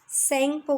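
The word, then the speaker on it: Tsangpo: हिमालयास के parallel in Tibet it is called सेंगपो, और हिमालय तिब्बत में से सेंगपो कहा जाता है। यहाँ पर टी साइलेंट होता है।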